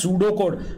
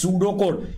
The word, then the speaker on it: pseudocode: Next step is beta algorithm, which is also known as pseudocode, where P is silent. It is pseudocode, which looks like a program, but it is not a program.